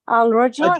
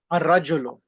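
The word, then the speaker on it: الرجل: No, Rajulan. Al-Rajulan? No. Ar-rajulu.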